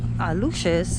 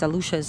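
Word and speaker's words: Aluxes: Aluches, it's spelled A-L-X. A ver, let's see. A-L-A-U-X-E-S. That's the plural.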